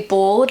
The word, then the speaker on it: bald: So this is the German pronunciation of bald.